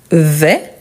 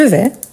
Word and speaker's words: vais: sauf celui-ci donc je vais je vais n'oubliez pas donc on ne prononce pas le S donc je vais tu tu vas avec